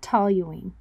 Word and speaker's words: toluene: show okay siri how do you pronounce toluene toluene toluene i knew it